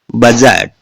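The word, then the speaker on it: budget: है जी से पहले बजट जी से पहले डी है साइलेंट है इसमें देखिएगा लज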